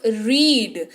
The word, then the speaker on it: read: इसीलिए इसको हम लोग ई जो है वो उस पर जोर पड़ता है उच्चारण के वक्त, रीड। तो ई आपको सुनाई देता है पर ए भाई साहब जो है चुपचाप बैठे हुए रहते हैं, ये बन गया रीड।